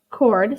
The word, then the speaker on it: chord: added in a chord spelt chord that is pronounced chord c-h-o-r-d and i also labeled the circumference okay